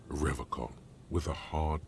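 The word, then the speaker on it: Revachol: soggy logs he pronounces rivercon with a hard K unlike other people you said rather Cole I like to pronounce it the hard way Spartan way he nods solemnly that's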